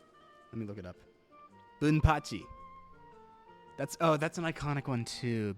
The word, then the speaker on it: Bunpachy: Now I just have to remember how it's pronounced, because I've pronounced it 2 different ways already. Zyudenryu Bunpachy. Let me read this. Yeah, it's Bunpachy.